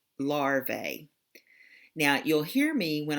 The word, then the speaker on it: larvae: one say the word larvae in with some scientific terms to make the word mean more than one one we add the a sound at the end like when I talked